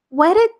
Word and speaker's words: whetted: The pronunciation is just like wet, as if you have taken a shower and you are all wet. So this is the same pronunciation.